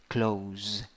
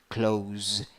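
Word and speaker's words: clothes: in z okay and the th sound can be dropped th can be dropped so how can you pronounce this close close th there's no th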